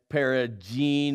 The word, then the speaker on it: Peragine: I am with Antoinette Peragine with a hard G.